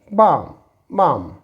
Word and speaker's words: balm: This is बाम।